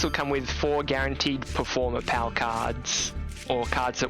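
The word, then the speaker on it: Performapal: case it would be performer pals performer that's how it's pronounced at least um so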